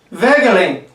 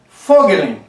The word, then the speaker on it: Voegelin: ainda puxando pro alemão Então em vez de Eric Henrique em vez de vegelin é fogelin é como você preferia